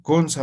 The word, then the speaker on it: kunsa: así van a decir, kunsa monta. ¿A ver? ¿Se ha entendido? Aquí está el sufijo sa, Chichiri, ¿sí? Isa ya tichiri. solo cuando se escribe se coloca kunsa y cuando se pronuncia kuns directamente.